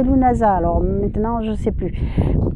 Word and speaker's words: Lughnasa: Donc, alors, parce que j'ai un ami irlandais qui m'a téléphoné et qui m'a dit non, non, c'est pas Lunese, c'est Lunasa.